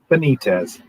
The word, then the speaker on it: Benitez: just knew him uh it's joe benitez um benitez uh i've known him for about 20 years